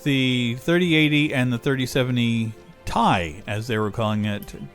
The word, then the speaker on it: Ti: in uh like you tie a tie we've called them a ti for years um but apparently the person that they had acting to do this the keynote speech uh pronounced it thai but anyway the 30-80